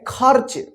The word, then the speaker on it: खर्च: लिखा जाएगा देखिए ख ख के बाद आधा र का उच्चारण हो रहा है उसके बाद च